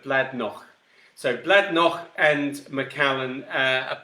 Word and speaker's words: Bladnoch: So Bladnoch and Macallan, or Bladnoch. Sorry, just being very English about that, but Bladnoch.